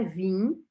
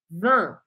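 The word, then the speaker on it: vingt: que é um sorrisão você não vai pronunciar o i Então não é vim mas você tem que abrir um sorriso para falar essa palavra Van Van é bom que já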